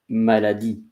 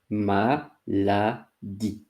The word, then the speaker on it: maladie: The first word is maladie. Maladie. Maladie. And E at the end is not pronouncing.